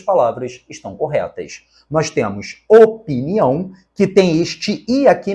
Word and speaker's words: opinião: estão corretas nós temos opinião que tem este I aqui mesmo tá o p não é mudo na palavra opinião opinião opinar existe de fato este i a palavra